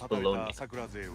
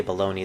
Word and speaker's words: Bologna: And plus, it's a lot easier to say Bologna than Bologna, because you gotta like pronounce it at the end. Takes a little more effort. Bologna. I've never. That's the first time I've ever heard it pronounced that way. Bologna.